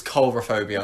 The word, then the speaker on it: coulrophobia: I really hope you pronounced that right. That would be quite Coulrophobia. embarrassing. No, it's coulrophobia. Coulrophobia, right.